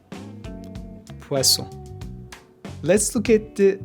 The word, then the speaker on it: poisson: The double S is also pronounced as S. For example, poisson, poisson.